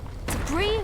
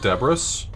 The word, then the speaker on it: debris: Debris was flying everywhere. Actually, it's pronounced Debris.